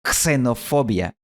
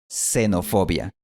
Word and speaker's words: xenofobia: Y en el caso de palabras como psicología, gnóstico, mnemotecnia, pterodáctilo o neuma, simplemente no pronunciamos la primera consonante. Por eso, esta palabra no se pronuncia xenofobia en español, sino xenofobia. Y los españoles también suelen simplificar la pronunciación de la palabra extraño, pronunciándola extraño.